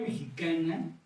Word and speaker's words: mexica: En la Academia Mexicana y en la difusión mexicana que he ido permeando, ya se usa mexica sobre todo. Sí hay que explicar a los chavos que esa X se pronuncia como J.